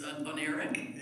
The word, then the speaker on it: oniric: Oniric, am I saying it right? Yeah. Related to dreams, right? Right, Yeah. Yeah. You can say it for me. Oniric.